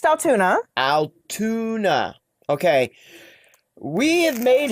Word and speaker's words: Altoona: about other things okay Altuna it's pronounced Altuna Aluna okay we have